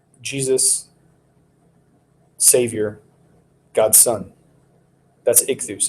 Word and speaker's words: ichthus: it really means Jesus savior God's son that's ichthus it's you know you've heard it said where